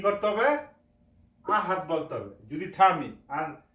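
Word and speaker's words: أحد: আমরা যদি থামি এখানে তাহলে কি করতে হবে আহাদ বলতে হবে যদি থামি আর না থামে যদি পুরাটা একসাথে পড়ি তাহলে আহাদুন বলা যেতে পারে এখন এখানে ওয়াকফ আছে আমরা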